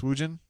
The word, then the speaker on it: swoogan: Hornatius says, swoogan is not pronounced with a hard GJ, so it's swoogin.